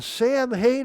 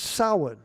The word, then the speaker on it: Samhain: I've heard people say, "What in the Sam Hayne are you doing?" Well, that's not the proper pronunciation.